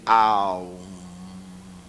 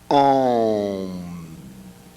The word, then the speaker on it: Om: Mas eles recomendam que digamos, ao invés de Aum, digamos Om.